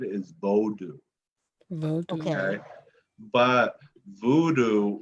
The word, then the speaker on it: Vodou: meaning that pronunciation, Okay. Voodoo, rather than Vodou, right?